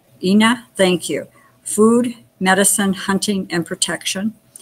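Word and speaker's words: iiná: Ina. Ina, thank you.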